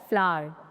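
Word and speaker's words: flour: Next फ्लोर wheat फ्लोर regular फ्लोर नहीं होता है। That's incorrect. सही होता है फ्लावर।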